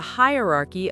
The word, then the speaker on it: hierarchy: animal kingdom there's a hierarchy of predators. Excellent. Okay listeners, this is our final word. Pause and practice. Hierarchy. Make sure the stress is on high.